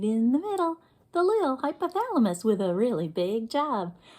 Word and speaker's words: hypothalamus: parts of that word let's Clap the syllables in hypothalamus let's do it again hypothalamus let's do it faster hypothalamus do it again hypothalamus one more time hypothalamus that was five whole syllables hypothalamus wow big word